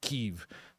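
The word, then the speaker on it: Kyiv: It's like when people were giving me crap for saying Kiev instead of Keev.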